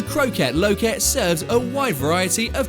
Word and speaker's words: Kroket Loket: It rhymes, it's Dutch and it's delicious. As the name may suggest, the Kroket Loket serves a wide variety of kroketten.